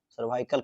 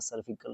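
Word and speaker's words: cervical: The initiative M to detect treat and prevent सर्विकल cancer, क्या सही है, बिल्कुल सही है, सर्विकल cancer, सर्वाइकल cancer, सर्विकल नहीं, प्रोनाउंसिएशन मतलब बुला जाता है दोस्तों।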